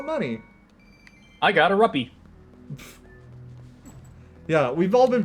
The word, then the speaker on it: rupee: whoops I got R money I got a ruppy yeah we've all been pronouncing him wrong by the way it's ruppy not rupe yeah no way that actually is rupee I